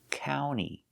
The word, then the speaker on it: county: County, the sound ow, county. And we have the NT together. When you have NT between vowels, the T is silent. So you don't hear the T sound. You hear county, county.